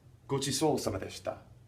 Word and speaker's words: ご馳走様でした: Go chisou sama deshita.